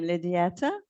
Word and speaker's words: Lidieta: How do you say your name? Lidieta? Yes, perfect. Lidieta, okay.